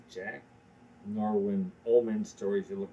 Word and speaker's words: Norwine: end this is you're going to say Jack Norwine OMS stories. You look right at the camera and just almost yell it. It's not Jack Norwine.